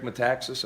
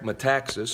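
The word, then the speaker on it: Metaxas: said it's disputed eric um how do you pronounce his last name m-e-t-a-x-a-s eric mataxis i think it's called i could have it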